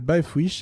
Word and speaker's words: Baefwishes: sur un autre site, ça s'appelle Bifwish et c'est une... Quoi Bifwish, alors ça s'écrit BAEFWISHES et là on est plutôt dans la fantasy en fait.